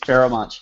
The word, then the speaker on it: Pharoahe Monch: But Ninth Wonder, Pharoahe Monch, did I say that right? Pharoahe Monch. Pharoahe Monch, yes.